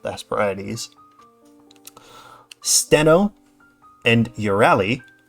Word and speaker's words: Euryale: In the frontier land towards night, where are the clear-voiced Hesperides, the land called the Hesperides, Steno and Euryale, more modern English would pronounce it as Uriel, and Medusa, who suffered a woeful fate.